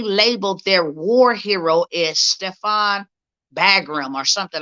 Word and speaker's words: Stepan: y'all to see something his name is stefan uh stepan i think that's how you say it um bandera that's his